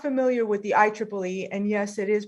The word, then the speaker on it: IEEE: So for those of you who are not familiar with the IEEE, and yes, it is pronounced the IEEE, it's the Institute for Electronic and Electrical Engineers.